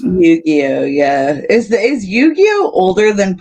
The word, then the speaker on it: Yu-Gi-Oh: Is that how you pronounce it? Yu-Gi-Oh, yeah.